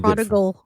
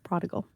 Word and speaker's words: prodigal: she's returned yeah because you abandon them too prodal prodigal is that the right way pull up the pronunciation we need Jared prodal he's so late